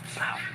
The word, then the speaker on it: pav: First of all, the pav, that's not how you say it. It's about a pound. Like, pow.